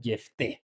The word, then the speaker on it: Jefté: Si no lea junto conmigo Jefte, pero ya quedamos, ¿verdad? La pronunciación en hebreo es Jefté.